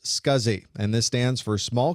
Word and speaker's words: SCSI: the drive was operational the abbreviation SCSI is pronounced scuzzy and this stands for